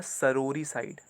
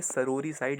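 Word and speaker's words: sororicide: Next word है हमारा सरोरी साइड। Mind this, इसे पढ़ेंगे सरोरी साइड, लिखा है सोरोरी साइड, पढ़ेंगे सरोरी साइड।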